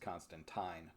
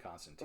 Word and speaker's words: Constantine: It's the feel of this version of Constantine, which really should be pronounced Constantine, by the way, if you listen to the creator of the character. Okay. He hated that everybody called him Constantine.